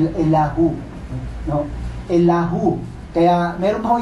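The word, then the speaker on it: אליהו: Ang Hebrew name niya po ay pinapronounce na Elahu.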